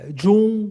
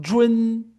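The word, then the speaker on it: zhun: Esse UN, ele também tem um detalhezinho que você não vai pronunciar Jun, né, como a gente pronunciaria. Você vai pronunciar como se tivesse discretamente aqui um E, né? Então ficaria mais ou menos assim, ó, Jun, Jun, né?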